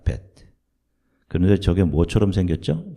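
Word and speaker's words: ב: 자, 히브리어 발음으로는 저 단어가 베트입니다. 베트.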